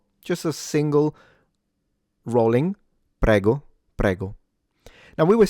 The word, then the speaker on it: prego: This is pronounced prego. PGO. PGO. All right. So, let's examine it. We have a rolled R, an open E in the middle. That's where the stress goes.